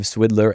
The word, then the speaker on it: Swidler: law firm of Swidler and Berlin, which is very tempting to pronounce as Swindler and Berlin, where he represented individuals, companies, and trade associations in intellectual property rights.